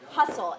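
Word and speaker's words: Husel: his name is William hustle hu SEL hustle right as you would pronounce that just a very disturbing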